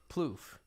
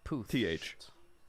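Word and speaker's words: Puth: name po po yeah plof no without the L poofy is po th like like plth without the Ellen with a th Charlie poth poth yeah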